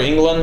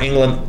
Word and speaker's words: Englund: On the Final Nightmare, Freddy, I guess, since he's Robert Englund, is that how you say his name, by the way? Is Robert Englund, yeah.